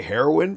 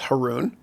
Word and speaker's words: Haroun: just they would say heroin party of six are her hair and party of six my last name is Haroon which rhymes with baboon now you'll never forget